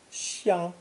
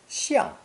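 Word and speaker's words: 相: pronounced either first tone, xiang, xiang, or fourth tone, xiang, xiang, depending on the meaning.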